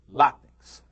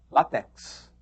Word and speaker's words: látex: e é isso mesmo látex Só que todo mundo fala látex mas o dicionário ensina que a palavra é paroxítona látex Por falar em látex